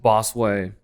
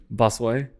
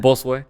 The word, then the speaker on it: Bosue: Little 7-year-old Bosue. Yeah. I'm saying it wrong, huh? Say it again. Bosue. Yeah. Bosue. There it is. Bosue. Bosue. Dude, I've been saying your name wrong this whole time.